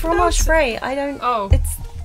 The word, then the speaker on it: fromage frais: How do you pronounce that? Frais. It's fromage frais.